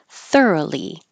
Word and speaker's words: thoroughly: I cough exhale thoroughly it looks like a lot of O's but there's no o sound just R like th thoroughly thoroughly satisfied heard as